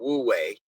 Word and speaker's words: Wu Wei: And there's there's actually a Chinese philosophy that I probably will not say it pronounce it correctly called Wu Wei, which is action through inaction or the decision not to take an action and accept the outcome based on that.